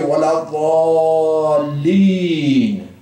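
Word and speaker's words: ولا الضالين: You have to say, wala dhalin.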